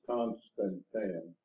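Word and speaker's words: Constantan: What is Constantine? Constantine, that's what they call it. They pronounce it. That's the way I've heard it pronounced. It's just a type of metal.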